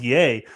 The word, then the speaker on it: Ye: of like antonio yay is ye what oh she's pronounced yay oh my god how